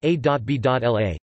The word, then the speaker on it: Abélard: Peter Abelard, Latin, Petrus Abelardus or Abelardus, French, Pierre Abelard, pronounced A.B.L.A., 1079-21 April 1142, was a medieval French scholastic philosopher, theologian, and preeminent logician.